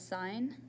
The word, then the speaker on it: sine: these words pronounced as sine sine is abbreviated as sin we do not pronounce it as sin every student tries to say that it is pronounced as sine cosine is abbreviated as